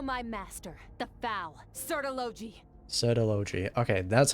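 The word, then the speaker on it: Surtalogi: Sertology. Okay, that's how you pronounce the name.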